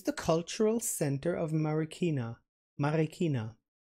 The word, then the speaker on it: Marikina: the cultural center of Marikina Marina you told me not to pronounce the r in the American way more in the German Swiss the harder Spanish way Marikina I can't roll the